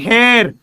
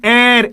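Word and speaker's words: heir: This is नॉट हेयर, this is एयर।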